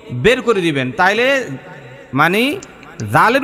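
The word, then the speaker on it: ذال: করে দিবেন তাইলে মানে জালের উচ্চারণটা একদম পারফেক্ট হয়ে যাবে জালের মধ্যে তিন আলিফ পরিমাণ টান দিবেন কেন জাল আলিফ জবর জালাম দুই পেশ লুন জালুন জালুন এরকম হবে।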